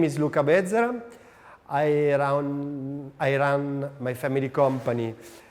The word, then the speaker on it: Bezzera: Basically, it's Bezzera. But don't worry, it's a Portuguese name pronounced in Italian, so everybody make mistake.